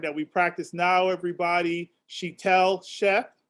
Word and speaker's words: Sheetal Sheth: Sheetal Sheth. Sheetal Sheth. Yes. We got to make sure we pronounce that right.